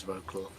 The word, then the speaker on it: Wrocław: Should I just give it my best pronunciation of Wrocław? It is Wrocław.